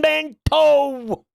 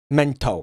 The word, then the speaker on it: mental: Absolutely fucking mental. Guys, you invented the language. Like, you should know there's an L at the end of that word. Why aren't you pronouncing it? I hear W. Mento.